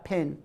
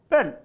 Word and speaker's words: pen: this this is a pin this is not a pen not a pinned it it's wrong it's wrong what is this this is a pen pen how to pronounce this pen pen not pin pen and here we